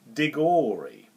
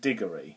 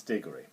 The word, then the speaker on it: Digory: Nephew I thought the lead character was called Dori Dori rhymes with story yeah because when you've only got